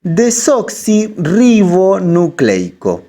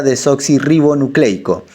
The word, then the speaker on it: desoxirribonucleico: Quiere decir desoxirribonucleico. Si lo decimos rápido, sería desoxirribonucleico.